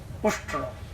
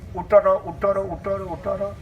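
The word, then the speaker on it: उष्ट्र: Sanskrit word camel, that is called Ushtra. What is called? Ushtra. Then Rajkumar says, what is the sound coming? Because actually he is a murkha. Understand? He cannot, his pronunciation coming Uttara. What is Uttara? He wants to speak what? Ushtra. Sanskrit word Ushtra. And camel. So he says, Uttara.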